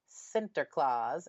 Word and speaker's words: Sinterklaas: There is a character who accompanies Sinterklaas, as that's how it's said in the Netherlands, and his name is Peter.